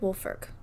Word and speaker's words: Woolfolk: i'm okay i'm sorry so in 1855 richard wolferck it doesn't look like it's pronounced wolferk but it is he was 20